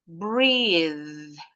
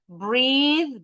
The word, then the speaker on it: breathe: Breathe. Ah, ini yang suka salah nih. Breathe beda dengan breath. Kalau breath tulisannya gini entar. Kalau breath enggak pakai E belakangnya.